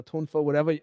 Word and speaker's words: Tuifa: It's Hamahiga no Tuifa or Hamahiga no Tunfa, however you want to say it, right?